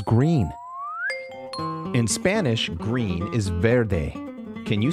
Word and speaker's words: vert: In Spanish, green is verde. Can you say verde? Verde. In French, green is pronounced ver.